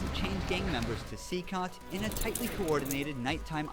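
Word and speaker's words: CECOT: El Salvador which was okay that's how you pronounce it seot constructed to imprison the highest profile criminals those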